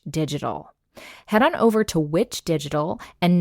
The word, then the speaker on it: VVitch: head on over to which digital and note that which is spelled vvi t c and mention the witch